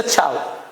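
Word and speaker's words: ciao: Till we meet take care and चाऊ। Fine. इसकी spelling होती है सी आई ए ओ। प्रोनंसिएशन है इसका चाऊ।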